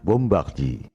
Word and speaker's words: bombardier: asal Prancis pastel Institute Kalau bahasa Prancis ucapan dan tulisannya memang beda bombardier bacanya bombaki Louis Pasteur bacanya Luwi pastel Montage penemu HIV dan